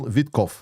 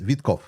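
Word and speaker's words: Witkoff: Can you pronounce Witkov's name in a traditional fashion? Witkov. Yes, Witkov.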